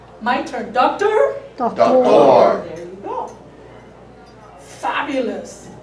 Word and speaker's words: doctor: The accent is in a different place, right? My turn. Doctor.